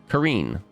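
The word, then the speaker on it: Cyrene: Like, Serene is originally with a hard K, not a soft C. Kareen.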